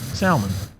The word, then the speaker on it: salmon: Tac it's not whack so it's 100% salmon and I don't care what anybody says the